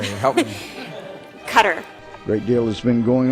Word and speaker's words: Qatar: cotton candy and rainbows what is the definitive pronunciation is it cutter qatar a gutter we've heard all three arabic actually it's qatar okay how would i say it help me cutter great deal has been going on in the